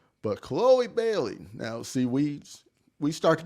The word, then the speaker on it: Chloe Bailey: What, how do you pronounce her name? Holly Bailey? Yeah. Holly Berry. No, no, What are you no. talking about? Chloe Playing Bailey. Chloe Bailey. Yeah, Sorry. Chloe Bailey.